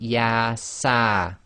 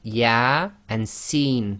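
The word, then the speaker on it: Ya-Sin: So here you cannot say Yasa, it would be Ya and Sin, so that's both the letters, the name of the actual alphabet letters themselves.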